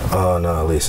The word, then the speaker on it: Annalise: It's really, Annalise. It's 3 syllables.